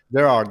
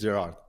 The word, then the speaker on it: Gerard: cool how do people it's it's Gerard right Gerard yeah yeah in English it's Gerard in Spanish or in Catalan say ger and